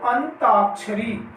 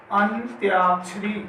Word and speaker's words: अंत्याक्षरी: आगे देखो अंताक्षरी, अंताक्षरी ये हमारा अशुद्ध है और इसके स्थान पर शुद्ध हो जाएगा अंत्याक्षरी। क्या हो जाएगा इसका? अंत्याक्षरी। आदन्य आएगा, आदत आएगा, अंत्याक्षरी।